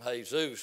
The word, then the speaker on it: Jesus: we told him uh we didn't like to call him hey Zeus because you spell it the same way you spell Jesus and we said we